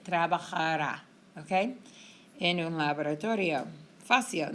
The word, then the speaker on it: trabajará: But we need the emphasis when you say it or when you write it, trabajará, okay?